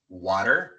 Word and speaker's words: water: Water. Butter. Colocamos la lengua en la misma posición como si fuéramos a pronunciar una R en español y sale el mismo sonido.